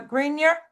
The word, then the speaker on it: Greenier: Uh, next we have Bob uh Greener. Am I pronouncing your name correctly? Yeah, Bob Greenier is fine.